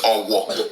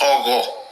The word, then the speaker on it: Ogo: So the Yorubas of today that cannot pronounce GH, they call it Owo. It's Ogo, respect.